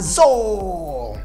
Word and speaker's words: dzô: hear một hai ba zo. Now, when you talk about the Midland, let's say Hue City or go south, that is a soft D, so it's going to be pronounced more like a Y.